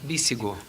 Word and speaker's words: Bíssigo: Bíssigo. Bíssigo. Isso. Bíssigo. Então tá bom. Agora eu não sabia como pronunciar, mas é como se lê, né?